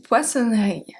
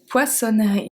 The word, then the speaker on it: poissonnerie: Une poissonnerie. Une poissonnerie.